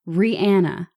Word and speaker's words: Rihanna: But how it's pronounced and how she clarified it was Rihanna is her name.